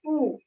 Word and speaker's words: ऊ: इसका बीजाक्षर है ऊ। ऊ जो लिखा है ओम नहीं, ऊ ऊ ऊ, इसका उच्चारण करने से भी आप इस चक्र को एनर्जाइज कर सकते हैं।